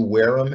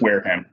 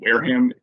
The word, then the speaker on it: Wareham: mr chamberlain aspen blue whereum incorporated i've always been cured is this how do you pronounce this for those uh long time match is it whereum or wareham i believe it's wareham i'm gonna since sean's